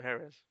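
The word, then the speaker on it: Jerez: I'm pronouncing that wrong is it jerz or Herz I think it's Herz think yeah yeah I could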